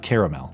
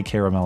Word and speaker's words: caramel: maybe Twix, things with caramel. And yes, I say caramel, not caramel. But, you know, that's... You're sus. There's another A in there for a reason, all right? Too many syllables, Matt.